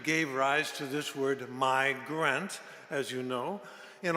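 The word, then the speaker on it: mei: much more ancient root which could be pronounced my m-e-i and i want to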